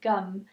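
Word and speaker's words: gam: with you today is gum and it sounds just like it's spelled for those of you who are English speakers its gum and it's what's called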